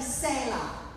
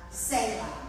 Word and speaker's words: Selah: Now, I call this Bible study Selah. That's how you say it, Angel and Monica. Selah, in case you're wondering.